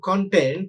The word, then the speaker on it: content: So uh, if you look at the word content, if you stress the first syllable, it functions as a noun, content, or an adjective. But the same word, if you stress the second syllable ta, then that becomes a verb, content, content. So there are monosyllabic words,